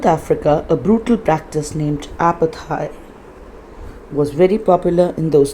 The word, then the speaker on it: apartheid: दक्षिण अफ्रीका में एक बहुत ही क्रूर प्रथा थी, ब्रूटल प्रैक्टिस, क्रूर प्रथा थी, जिसका नाम था apartheid. ये apartheid या ऐसा नहीं है प्रोनाउंसिएशन, इसका प्रोनाउंसिएशन है apartheid, जो कि बहुत ही ज़्यादा प्रचलित थी उन दिनों में।